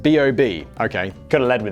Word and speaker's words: B.o.B: basically the immediate question who on earth is bob yes i've never heard of him and apparently his name is pronounced b.o.b okay could have led with that dany instead